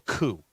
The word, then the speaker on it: coup: High Fat Carnivore wants to know how you spell coup. It's COUP. Right. Little like thing, see little every thingy out. That's right. Yeah. The P is silent.